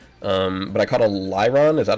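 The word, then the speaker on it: Lairon: something like La yeah it was like La l a i r o n like lyron okay so is that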